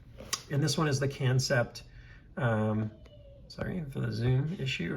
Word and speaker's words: Kansept: I've never had, it's actually pronounced, I think, Kansept.